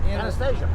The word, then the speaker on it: Anastasia: name uh anesthesia from this in a state anastasia yes this is where they live and stay